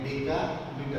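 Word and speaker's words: decameter: तो ये DAM यानी डेका मीटर. प्रोनाउंसिएशन डैम नहीं करने का, डैम नहीं करने का, इसको बोलने का डेका मीटर.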